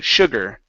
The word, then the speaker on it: sugar: word here is sugar instead of su Sugar it's sh sugar sugar okay good and your